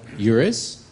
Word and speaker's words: EURES: Here, it's about eures. Am I pronouncing that correctly?